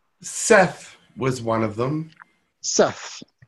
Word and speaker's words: Seth: just under the name Seth was one of them Seth okay through Jane Roberts I think channel self yes it's actually pronounced set said and let's see Anubis